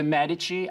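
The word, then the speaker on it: Medici: imagine how that went the medich are a family of Merchants who become wealthy once again his Italian pronunciation is spoton Bankers they're Bankers to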